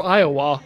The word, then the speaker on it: Iowa: It's okay, so one thing I'm going to note is that y'all are saying Iowa with a stronger emphasis on the wa. And yeah. that's Iowa.